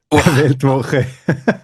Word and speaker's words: Weltwoche: what's the right manner to pronounce Weltwoche? I hate to say you are absolutely right. Weltwoche.